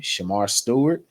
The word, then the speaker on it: Shemar Stewart: around town is I'm pronouncing his name Shemar Stewart, Yep, from the correct?